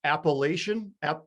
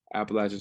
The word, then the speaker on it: Appalachian: went to your college and i think i pronounced it appalachian appalachian state and you gave me a disgusting look man appalachian appalachia it's a common mistake though but uh appalachian stays the correct correct uh term and i